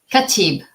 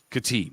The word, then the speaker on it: Khatib: something do me a favor Pro pronounce your pronounce your last name katib katib okay so you notice I didn't say it